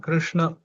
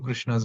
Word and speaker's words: Krishna: Actually the way we all pronounce Krishna is also not really correct. We pronounce it Krishna which is not correct ideally Krishna because the tongue has to bend more backwards.